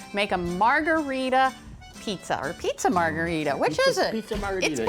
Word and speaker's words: margherita: This combines to help make a margherita pizza, or pizza margherita.